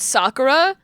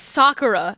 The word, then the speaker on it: Sakura: Sakura they were always calling it Sakura and I'm like it's Sakura it's like you you are hitting that you're hitting that emphasis in such a a weird way it's not just say it like calmly it's Sakura not Sakura um and